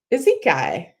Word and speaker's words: Isekai: Oh, your name is pronounced like Izikai, like kite, Kite. Isekai.